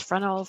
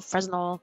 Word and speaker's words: Fresnel: So, and I pronounce it wrong. It's Fresnel, Fresnel, not sure.